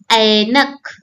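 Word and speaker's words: ऐनक: The second one is anak, anak. So is this A or A? Yes, it is I.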